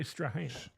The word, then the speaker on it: Strahan: the day was spelled the same but pronounced Straan.